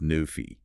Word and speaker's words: Nephi: If you take the root name Nephi pronounced Nufi and you make it